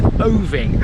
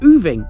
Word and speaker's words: Oving: in West Sussex now the locals around here apparently pronounce this place different to how I would now I would pronounce this place moving and throughout this episode I may refer to it as other but I have it on good authority that this is the Parish of oovi foreign here's my